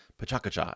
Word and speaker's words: PechaKucha: night so you may be wondering what is pachucha it's actually supposed to be pronounced Paka I just learned that recently which is Japanese